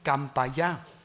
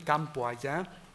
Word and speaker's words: Campayá: nombres como el que los hablantes locales pronuncian Campayá, con variante Campo Allá, debido a una etimología popular que interpreta el nombre como el campo de allá, pues cualquier usuario del